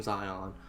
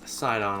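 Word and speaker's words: Sidon: to follow zia um side on i don't know what i keep saying zion too much mba going on my brain i guess guys it's side on i'll i'll get it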